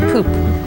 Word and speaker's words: Pupp: the grand hotel p-u-p-p which to me says pop but actually it's pronounced poop in chuck which is